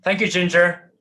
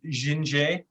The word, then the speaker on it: Jinjay: So thank you, Ginger. It's very nice of you to take a break. It's actually pronounced Jinjay. Jinjay, the French.